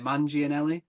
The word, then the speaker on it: Manganiello: How do you pronounce his last name? Manganiello.